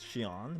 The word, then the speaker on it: Sean: every now and then lauren called me shion instead of sean i don't know if it's because she learned japanese i mean she knew that my real pronunciation my name is shion but yes uh lesson